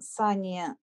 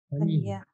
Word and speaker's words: Сания: Сания. В татарском языке у нас ударение практически всегда падает на последний слог.